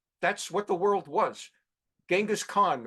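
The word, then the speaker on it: Genghis Khan: what the world was genas Khan or as John kery pronounced at jangus Khan they committed genocide uh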